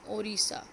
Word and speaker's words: Odisha: तो ये अब ओडिशा प्रेफर किया जाता है क्योंकि उसको अब ओडिशा प्रोनाउंस किया जाता है. स्पेलिंग है ODISHA.